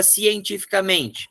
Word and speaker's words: cientificamente: É uma paroxítona natural, não leva acento nenhum.